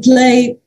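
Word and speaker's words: PL'AI: So in play, and it's spelled PL apostrophe AI, denoting plants and AI, the aim was to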